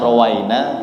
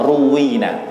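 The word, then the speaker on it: رُوِّينا: Wasallam Romi dan naik Ini bacanya itu bisa roweina bisa ruwina Kalau guru-guru kami seringnya menyampaikan lebih afdolnya dibacanya ruwina telah diriwayatkan kepada kami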